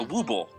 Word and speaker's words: Woubble: It is spelled WOUBBLE Wobble? WOUBBLE. A wooble. A wooble. Thank you.